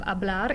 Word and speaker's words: hablar: change the world now the h at the beginning of hablar is not actually pronounced it's a silent h so we're just going